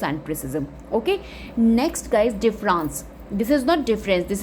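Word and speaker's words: différance: is called logos and प्रिसिज्म okay next guys डिफरेंस this is नॉट डिफरेंस this is the another spelling डिफरेंस डी I double F ई आर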